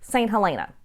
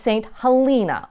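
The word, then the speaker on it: St. Helena: mythology you'll probably be tempted to call this st. Elena but it's not it's pronounced st. Halina with a long e and if you're driving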